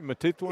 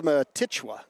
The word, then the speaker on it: Matichwa: So they'll pick, say his name for me, Matitwa? It's Matichwa.